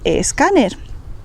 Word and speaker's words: escáner: D y G y la letra S al principio de palabra sin una vocal delante.